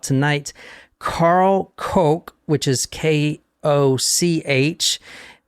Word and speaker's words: Koch: Karl Koch, which is Koch. I've also heard it pronounced like Coke, like the Coke you drink, and then or the Koch brothers.